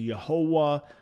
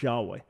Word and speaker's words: Yahweh: have held to but the vast majority of scholars recognize that the right the most likely right pronunciation was yahweh but it's not because